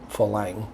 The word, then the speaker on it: farang: and actually once again the r's are pronounced l here so it comes out falang when they say flank